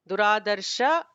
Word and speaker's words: दुराधर्ष: Duradarsha is ignore the visarga.